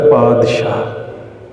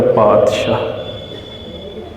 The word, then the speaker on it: पातशाह: पातशाह शब्द अरबी भाषा दे विच आउंदा है, उस तो बाद फारसी च आ जाता है। इसका मूल उच्चारण है पातशाह। जदों ये पंजाबी भाषा च आउंदा है तो असीं इसका उच्चारण तत्ते दे नाल करते हैं पातशाह।